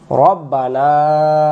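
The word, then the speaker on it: ربنا: হামদ এখানে আমি ভুলটা ধরায় দেই আমরা বলি রাব্বানা উচ্চারণ করব রব্বানা এক আলিফ লাকাল লাকাল হামদ হামদ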